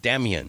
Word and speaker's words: Damien: He goes, Damien. And I go, "Okay, so it's Damien." He goes, "No." He goes, "Can I ask you to pronounce it Damien?"